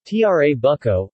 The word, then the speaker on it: Trabucco: the Trabuco Italian pronunciation tra bucco or turbaco in some southern dialects called traffic